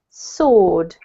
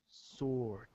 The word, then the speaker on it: sword: word here is pronounced sword sword yep so the w is basically silent okay this one here